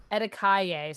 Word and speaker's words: Etikaye: So chat, I and we've say never known how to pronounce it. Etikaye. So not too far off. Tiki Isle.